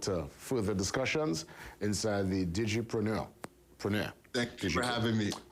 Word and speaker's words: Digipreneur: What's your pronunciation? You got it, the Digipreneur. Digipreneur.